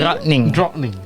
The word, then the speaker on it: drottning: It's called fikadrottning, and you have to say it in a specific pronunciation. Fikadrottning. Fikadrottning. Fikadrottning. Drottning is queen. Drottning. Drottning.